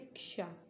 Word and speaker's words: क्षा: के बाद आता है, जब आप इसका उच्चारण करते हैं तो क्या छा पढ़ते, नहीं ना, इसको क्या पढ़ते, क्षा, है ना।